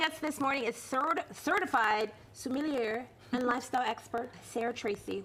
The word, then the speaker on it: sommelier: So joining us this morning is certified sommelier and lifestyle expert Sarah Tracey. Welcome to New York Living. Did I get that right? Did I pronounce that right? Sommelier, like yay for wine.